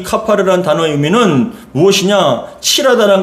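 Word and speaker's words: כָּפַר: 근데 칠하라 했을 때 칠하라는 건 히브리어로 카파르예요. 그러니까 여러분 이 히브리어대로 발음대로 표현을 한다면 14절이 고페르 나무로 방주를 만들고 코페르로 안팎을 카파르하라라고 얘기합니다.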